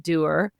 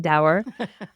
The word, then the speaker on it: dour: I am a bit doer, as we know, and a bit of a And curmudgeon. you know how to pronounce it correctly. Doer. Thank you, Marianne, for correcting me every time I said dour.